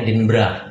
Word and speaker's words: Edinburgh: bisa Show di edinburg ngomong tulisnya edinburg tapi ngembacanya edinburra nah sebelum kita ngobrol-ngobrol